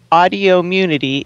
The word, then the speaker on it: Audio Immunity: i wanted to clarify audio immunity is pronounced like autoimmunity just switching the i and the o in the past when